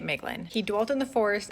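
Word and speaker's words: Maeglin: to King thingle and father of meglin mlin however you want to pronounce it I'm pronouncing it meglin he dwelt in the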